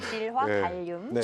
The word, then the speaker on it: 질화 갈륨: 지화 갈륨이에요.이 발음 잘못하면 방송 사고 납니다, 이거네. 질화 갈륨.